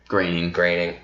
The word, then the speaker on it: Groening: Groening.